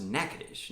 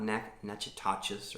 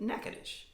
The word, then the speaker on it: Natchitoches: It is a town in North Louisiana, and it's pronounced Natchitoches, not Natchitoches or Natchitoches, but Natchitoches.